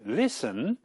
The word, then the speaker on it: listen: And in listen, the T is written but not pronounced.